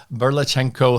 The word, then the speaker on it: Burlatschenko: what borrowers can do then my friend berlachenko have I pronounced that properly I want to make